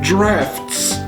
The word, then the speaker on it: draughts: Also, because everything is British and everything starts off as British, it's called drafts, but it's spelled like draughts.